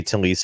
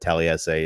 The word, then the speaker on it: Taliese: See, and now you say Talise Fuaga, and the fact that I said Taliese is, I think it goes down as the funniest mispronunciation of it, because you're right, it's definitely not that.